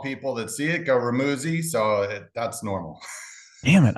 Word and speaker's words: Remuzzi: It's Remuzzi. It rhymes with Remuzzi. fuzzy. Uh, Remuzzi.